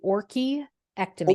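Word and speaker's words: orchiectomy: correct Dr Ronnie uh it's actually ory ectomy ory ory ectomy it's like an orchid yeah okay because I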